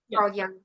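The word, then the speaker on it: Carl Jung: I love Do you Am I pronouncing his name right? Carl Young. Yeah. Yeah. Carl Young.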